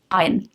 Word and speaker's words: iron: Iron, huh? No, iron, no R. Iron, R is silent. Don't ask me why it is silent, I don't.